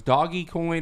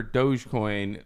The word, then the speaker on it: Dogecoin: There's a crypto and I've never known whether it was Doggy Coin or Dogecoin because it's spelled DOGE, and the symbol of it is